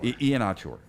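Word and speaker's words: Iheanachor: Ian-Achor, okay.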